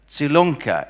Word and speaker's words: Zilonka: She stressed the fact that her surname, Zilonka, is pronounced like tsunami, which is what I think she is as well within the world of digital healthcare.